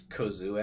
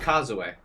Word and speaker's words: Kozue: right or is it it's kozue I pronounce it in the anime that's why I just did Causeway is how they say it in the English dub and her nickname is cozy in the dub I personally prefer kazupi